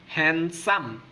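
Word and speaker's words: handsome: সুদর্শন তাহলে হবে হ্যান্ডসাম এখানে ডি এর উচ্চারণ হবে না হ্যান্ডসাম ওকে কি হবে হ্যান্ডসাম তারপর হচ্ছে যদি বলি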